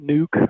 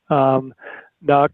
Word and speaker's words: NUC: So some people call it Nuke, some people call it NUC, and so you hear different pronunciations of it.